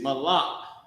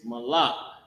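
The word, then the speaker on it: מָלַךְ: And the word is malak. The word is malak. Ma, la, and the character ka connected. Malak.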